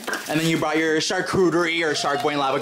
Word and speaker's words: charcuterie: And then you brought your charcuterie or shark boy and lava girl board.